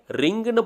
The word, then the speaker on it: ரீங்: இந்த மந்திரத்தில் இருக்கக்கூடிய 2வது வார்த்தையான ரீங் அப்படின்ற வார்த்தையை ரிங்னு படிக்க கூடாதுங்க. கொஞ்சம் இழுத்து அதை நம்ம ப்ரொனவுன்ஸ் பண்ணணும். அதாவது ரீங் அப்படின்னு நம்ம சொல்லணும்.